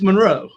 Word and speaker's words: Monroe: well i was just about to say you pronounced it wrong it's monroe it's monroe okay you say it monroe i